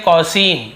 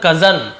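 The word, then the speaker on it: cousin: है, इसे बहुत से लोग क्या पढ़ते हैं, कौसिन। क्या पढ़ते हैं, कौसिन, लेकिन ये कौसिन नहीं है, इसे हम क्या कजन। अब आप बोलेंगे सर कहाँ से कजन आ गया, लेकिन इसका एक्चुअल प्रोनाउंसिएशन है कजन।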